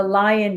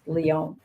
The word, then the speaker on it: Lyon: And the first one, I'm calling it the Lion Diet study, although I don't think it's the Lion Diet. To be honest, I think it should be pronounced Lyon because the study was actually initiated in Lyon, France.